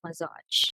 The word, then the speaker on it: massage: usual massage asia right so it's not as simple as sh some people are confused with that some says asia but instead say asia some says massage right but the correct pronunciation is massage and usual but znh